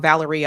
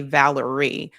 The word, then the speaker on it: Valeria: Um, I think I pronounced her name wrong. Valeria, I always want to say Valerie.